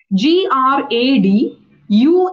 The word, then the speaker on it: graduation: is what you said it's not gray it's gr gradu now you said it